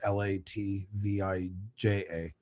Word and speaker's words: Latvija: Like in Latvia, we spell it like in English, her country, Latvia, Latvia, but in Latvian it's Latvija, because you get that ya at the end of it.